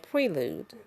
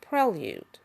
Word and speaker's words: prelude: on here to say I had been mispronouncing the word prelude. I was saying prelude, and it's prelude.